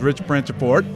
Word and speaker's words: Branciforte: Tonight, it's all about music, and I'm here with a guest that, by the way, Rich, this is Rich Branciforte, which I just understood that's the way to pronounce the name, right?